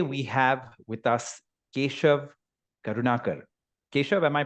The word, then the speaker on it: Karunakar: kamut and today we have with us KV karunakar KV am I pronouncing your second name right yes yeah are